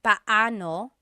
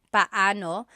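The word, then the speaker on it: paano: It's technically banano. Bano when there are two vocab or when there are two vowels together, you say them separately. But when speaking quickly, Filipinos just say now let's practice using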